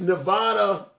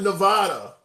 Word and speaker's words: Nevada: Handsome, it's Nevada, not Nevada. How do you pronounce the state that Las Vegas is in?